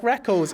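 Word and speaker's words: Rekkles: me going, I like Reckles. And these idiots on Reddit, they're like, oh, actually, I got super worried. He said Reckles, and I'm like, dude, it's spelt like that.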